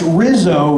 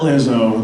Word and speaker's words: Rizzo: kikki's not the father so that's Rizzo not lizo that's what I call that right there we got a grease fans Ki that's how you would know um Rizzo rhymes with lizo so I did culture